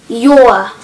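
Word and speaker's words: jó: good what be used for much but if you're just answering someone then that would be good and it's said your it's pronounced your is in like your so you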